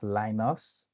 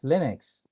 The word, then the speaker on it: Linux: is not really pronounced linos no a lot of people pronounce it linos but it's Linux like you hear K